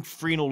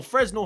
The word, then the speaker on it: Fresnel: rays, because they're using Fresnel lenses, or Fresnel, however you want to say it, but I believe the S is silent, which is a fun fact.